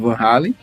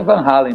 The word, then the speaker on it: Van Halen: Primeiramente é Van Halen, a pronúncia certa é Van Halen. Van Halen é como os americanos chamam ele, mas o certo é Van Halen.